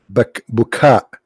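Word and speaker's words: Baca: Bakka here is Bukha. It's not Bakka.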